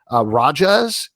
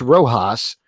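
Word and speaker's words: Rojhaz: The character is called Rajas. It's spelled Rohjaz. Yeah. And so in my mind, it was like, oh, it's Rojas.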